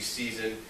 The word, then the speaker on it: Sea3son: the season staff basically season which is spelled s-e-a-3-s-o-n and what they're doing